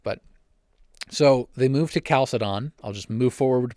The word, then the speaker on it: Chalcedon: alphabet but it pronounces it's written like a CH in English but it's pronounced like a hard K so it's in Greek